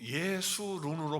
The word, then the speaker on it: 여수룬: 자, 여수른이라고 하는 단어는 히브리어로 예수룬으로 발음을 합니다. 예수룬 이렇게 발음을 하는데 그 뜻이 뭐냐 하면